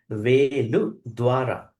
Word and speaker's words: Veḷudvāreyya: So this sutta has to be pronounced as Veḷudvāreyya, Veḷudvāreyya, and sometimes it is pronounced as Veḷudvāreyya Sutta.